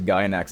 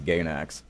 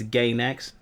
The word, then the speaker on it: Gainax: This is the motherfucker that pronounces Gainax as Gainax. Gainax, God. It's Gainax.